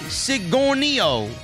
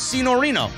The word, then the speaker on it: Signorino: The G is silent in my last name. So it's Signorino.